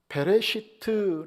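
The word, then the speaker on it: בראשית: 창세기 1장 1절에 태초에 를 히브리어로 뭐라고 발음을 하느냐 하면 베레쉬트 라고 얘기를 해요 베베 시트 그런데 이 말의 뜻은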